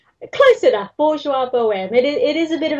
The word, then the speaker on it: Bourgeois Boheme: Close enough, Bourgeois Boheme.